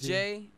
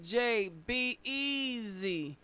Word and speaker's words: Jbez: It's J. There's a guy at our church named Doug too, and he says it this way every time. He's like J-B-E-Z, because that's how you spell it, J-B-E-Z.